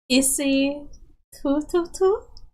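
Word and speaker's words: isithuthuthu: The Zulu word for motorcycle is isi tututu. Pronounced as T, not TH. Isi tututu.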